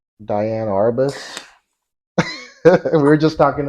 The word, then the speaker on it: Diane: I like Diane Arbus. We were just talking about I love her. I think she actually pronounced it Deanne.